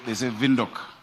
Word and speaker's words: Windhoek: They say Windhoek. We need to learn how to pronounce it.